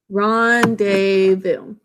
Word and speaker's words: rendezvous: that spelling pattern rendezvous ronde vu that z is silent but we think of it being there next up let's write